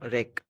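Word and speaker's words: wreck: रेक W silent है तो क्या कहेंगे हम रेक बर्बाद करना रेसल कुश्ती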